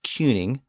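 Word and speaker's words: cyning: same word King again the original Old English version was spelled c y ning pronounced cuning but that sound eventually shifted to the I sound of King so by the end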